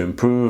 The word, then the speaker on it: improve: That focus to improve, improve to improve, on to improve, they're all incorrect. Now, the pronunciation here is improve. So with the V, the teeth here are touching the lips here below.